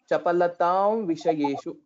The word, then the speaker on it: Chapalatam Vishayeshu: be closing it completely we will be closing it almost nearing our lips so similar to the way we pronounce we or were Chapalatam Vishayeshu.